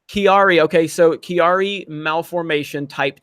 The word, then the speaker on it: Chiari: I had, how do you pronounce this? C-H-A or C-H-I? Chiari. Chiari.